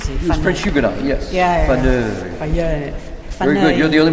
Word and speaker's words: Faneuil: Faneuil. Very good. You're the only one who can pronounce that.